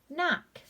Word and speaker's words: knock: KN combination, the K is going to be silent, so it would be just the N sound. N-ak, knock.